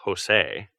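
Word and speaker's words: José: poor fellow but jose that is a spanish name by the way it is pronounced jose had no idea of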